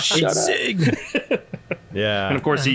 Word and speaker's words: Czig: Zig. Yeah, I mean, like I said, as long as it's not C-Zig, then C-Zig. C-Zig? Zig. Yeah, the C is silent.